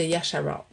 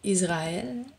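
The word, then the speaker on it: ישראל: Du Tout-Puissant de l'armée de Yasharal. On l'a retraduit Israël, mais en hébreu, Israël, c'est Yasharal. Je ne sais pas comment le prononcer, là. C'est Yad, Shin, Ra, Ayin, Rash, Alap, Laf, Lamad, excusez, Yasharal, que tu as insulté.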